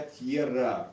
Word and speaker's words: tierra: Тьера, это я тьера. Тьера, В конце. правильно говорить тьера.